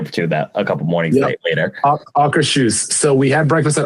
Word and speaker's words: Akershus: day because we had breakfast that day at Akershus. That's how it's pronounced. I think I was paying big time attention when they told us the name because we ate there for a couple mornings later. Akershus.